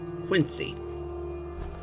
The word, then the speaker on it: Quincy: the distance you see I'm from Illinois we pronounce that word Quincy but apparently in Boston that's pronounced quiny I don't know what